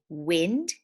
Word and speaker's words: wind: tell you something to I and D is a little bit kooky sometimes I and II can say in like in wind but most of the